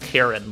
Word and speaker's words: Kieran: Is Sierra a brave gainer? Yeah, I think it's like 40%. His BT's 50%. Yeah. I ran a lot of Sierra and or Howard. It's actually pronounced Kieran, by the way.